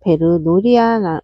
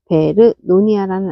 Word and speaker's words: 베르노니아: 이 친구는 베르노리아라 많이 발음이 안 되는데요. 베르노니아라는 아이예요.